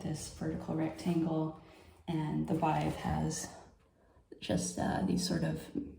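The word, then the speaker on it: Badb: This is the Bive. It looks like B-A-D-B, pronounced Bive.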